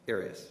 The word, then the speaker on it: Arias: Arias. Arias. Have you ever heard pronounced any other way other than Arias?